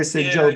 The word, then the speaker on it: Sajovits: Sajovitz. Sajovi. E-S like Sam. Sajovitz.